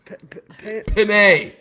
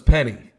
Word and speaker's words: Penei: Penei, like a bidet. Like a bidet. You're gonna. Penei? How do you say it? I thought it was Penny.